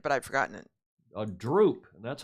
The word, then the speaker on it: drupe: However, the term for a one-seeded fruit, nut, is Droop. drupe. Did you know that? Yeah, I did, but I've forgotten it. A drupe, and that's how it's pronounced.